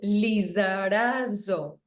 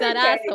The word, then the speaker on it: Lizarazo: very difficult last name is pronounced Lizarazo. See, I had it wrong. No, it's Lizarazo.